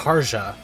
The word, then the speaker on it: Karja: Her will name just is make pronounced everyone burn. Karja.